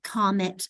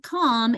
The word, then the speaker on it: commit: true sound in like comet and planet and commit. It becomes, it's not calm, it's come because I'm putting such an emphasis on that second syllable.